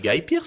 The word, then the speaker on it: Guy Pearce: dit quoi C'est Guy Pearce. C'est Guy en anglais. Oui, moi je la prononce à la française.